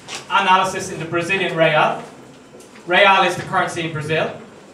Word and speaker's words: real: to do this analysis in the Brazilian rail Ray all is the currency in Brazil looks it's felt